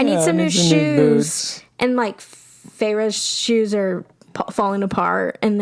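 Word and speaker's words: Feyre: But I will say Farah because I do know it's Farah now, not Fairy.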